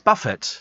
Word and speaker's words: buffet: Apparently the T in buffet is silent, says Paul. Oh, right. Pronounced what? Buffet? That's hair, isn't it? No, it's buffet.